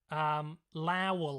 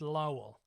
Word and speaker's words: Lowell: Now, I've pronounced this wrong in the past, and I believe I pronounced it Lowell last time. I believe it's Lowell.